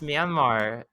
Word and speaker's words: Myanmar: i think was right mayan mar is where is where the nyan cat's enemy was born my marriage is fun to say i'm sorry i'll pronounce it it's myanmar okay and it's all